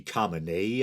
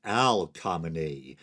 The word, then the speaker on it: Khamenei: a broad supreme leader Ali Khamenei I believe it is but I accidentally said Al comane not that I necessarily